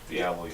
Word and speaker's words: Diallo: The young boy they brought in, is it Diallo, you pronounce it? Diallo, yeah.